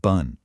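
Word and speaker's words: 분: It's actually much closer to the English word boon with a softer, slightly rounded vowel sound.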